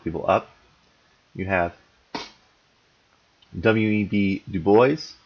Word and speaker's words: Du Bois: Du Bois, that's how you pronounce his name. Not Du Bois, Du Bois.